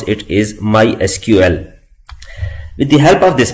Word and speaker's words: MySQL: oracle corporation we can call this product as my sequel but the official way to pronounce it is mysql with the help of this product we can